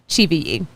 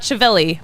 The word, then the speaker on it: Chivilli: We got 1 1/3 inning from Chivilli, which is how you say his name. It's on the pronunciation guide. It's not Chivilli.